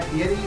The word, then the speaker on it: Fieri: It's not Guy Fieri, it's Guy Fieri.